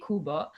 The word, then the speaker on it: Qbo: Kuba is the um Kuba is spelled as Qbo but we say kubba um and we are